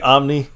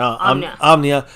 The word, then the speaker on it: Omnia: Carpe Omni. How you say it? I'm sorry. Omnia.